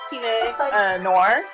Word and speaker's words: Pinot Noir: Alright, so right now, I'm drinking some, I think it's pronounced, Pinot Noir.